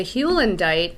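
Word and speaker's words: heulandite: here is called halendite i'm going to try to pronounce it correctly hulendite it's hewlandite with still bite now the hulendite is the the red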